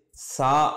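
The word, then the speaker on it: ثاء: அதற்கு அடுத்த எழுத்துக்கு மூணு புள்ளி இருக்கும், இதை சான்னு சொல்லுவாங்க. நம்முடைய நுனிப்பல், பல்லுடைய அந்த நுனி இருக்குது பார்த்தீங்களா, அதில் நாக்குடைய நுனியை வச்சு சா அப்படின்னு சொல்லணும். நம்முடைய நாக்கினுடைய நுனியை மேல் பல்லினுடைய நுனியில் வைத்து, ஓரத்தில் வைத்து சா என்று சொல்லணும்.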